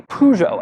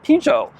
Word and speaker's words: Peugeot: I say Peugeot, as most Americans do. British people say Peugeot. French people say Peugeot, and Ivan in Spanish, he's saying Peugeot. There's a lot of different ways to pronounce it.